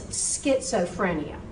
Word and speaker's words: schizophrenia: This is a pet peeve of mine. You would not have said schizophrenia, would you? You would not. You know it's schizophrenia. But this is not German. This is Greek and Latin.